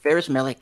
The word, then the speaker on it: Ferus Melek: Is that how you pronounce it, Jules? Yep, Ferus Melek.